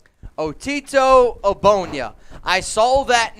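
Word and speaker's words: Ogbonnia: and it's otito and yes this is the correct pronunciation the g is silent a bonya otito obonya i saw that name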